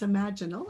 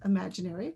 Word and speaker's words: imaginal: It's imaginal, actually, not imaginary. Excuse me. And imaginal is the correct biological pronunciation, which is the cell that's innate in the caterpillar that holds the vision of the butterfly.